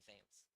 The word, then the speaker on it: Pham: That if you would ask, most people would say Pham. But I do go by Pham, Pham.